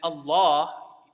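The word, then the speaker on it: الله: when um when uh you're saying Allah you're supposed to say it with a full mouth that L you you don't see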